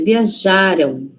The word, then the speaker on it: viajaram: Lembra que passado é antes, não é? Passado tá antes da gente. O passado, então a sílaba tônica, síba forte, tá antes. Viajaram, viajaram.